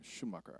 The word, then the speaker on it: Schumacher: I remembered how to say that last name, Schumacher. I said it wrong earlier.